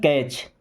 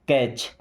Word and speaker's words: catch: कुछ एग्जाम्पल आपको दिखाता हूं, जैसे CATCH, यहाँ पे टी साइलेंट, इसे क्या पढ़ते हैं? कैच। क्या पढ़ते हैं? कैच।